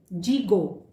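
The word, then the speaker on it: gigot: इसमें जी के बाद आई आया है, तो इसका प्रोनाउंसिएशन ज से होगा, जिफ्ल। एक और एग्जाम्पल देखते हैं। जीगो, मीनिंग लेग ऑफ मटन।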